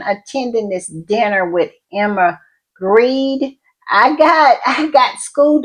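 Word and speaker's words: Grede: this dinner with Emma Greed. I got I got schooled about how to pronounce her name. So, it's supposedly announced I mean pronounced as greed.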